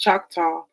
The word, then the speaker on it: Choctaw: It is theorized that the name Choctaw, pronounced Choctaw, is derived from the Spanish chateau for flat,